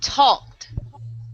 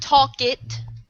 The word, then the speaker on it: talked: Talked. Talked. Right. Not talk it. Talked all together.